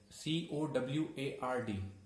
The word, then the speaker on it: coward: In this word, R is silent. C-O-W-A-R-D.